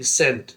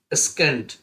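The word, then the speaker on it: scent: SENT, सेंट, सेंट में सी साइलेंट है और ये हो गया सेंट, और ये क्या हो जाएगा? महक, खुशबू। अगर सी साइलेंट नहीं होता तो पता है क्या पढ़ते हैं हम? स्कीन, स्काइंक, स्केंट, मगर वैसा नहीं पढ़ते हैं।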